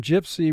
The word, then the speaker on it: gypsy: First syllable of 2 syllables, gyp, 3 sounds. J, I, P. C, 2 sounds. S, E. Gypsy. Mark the word. Gypsy. Here, Y in the first syllable is representing the short I sound.